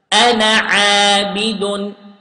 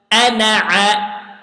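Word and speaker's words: أنا: Then I didn't pronounce the vowel, the alif in the ana word. Okay? I pronounce it like this. Ana abidun. Ana a.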